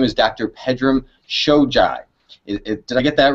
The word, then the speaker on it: Pedram Shojai: of ours he's not his name is dr pedram shojai did i get that right pedro you did